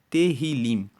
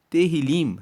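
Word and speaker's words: Tehilim: No hebraico, Salmos é chamado de terrilim. Terilim se escreve T E H I L I M.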